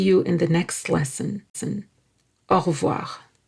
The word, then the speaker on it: au revoir: It is pronounced from the nose. À bientôt. You can also say goodbye, which is au revoir.